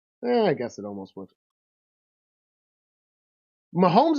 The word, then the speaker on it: Mahomes: Mahomes is almost 3 syllables, though. Mahomes. Like it's a long syllable.